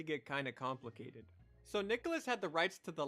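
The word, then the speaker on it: Nicalis: As there was an article about how the publisher Nicholas, and yes, it is pronounced Nicholas.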